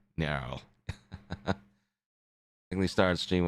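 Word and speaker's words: Nearl: Nerl.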